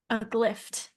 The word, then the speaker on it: Aglifft: Aglifft. Aglifft? Aglifft. Yes. Can you spell it for me one more time?